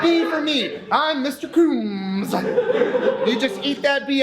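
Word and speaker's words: Coombes: Coombs. Spell it for me. C-O-O-M-B-E-S. C-O-O-M-B-E-S. Coombs. The B is silent. It rolls right through. But it's implied, right? The way you say it, you go Coombs.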